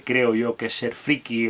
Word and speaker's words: friki: aquí friki de hecho la manera en la que yo lo escribo que es tal y como se pronuncia friki con y no existe como palabra porque viene de la palabra inglesa freak que se escribe freak que entre otros significados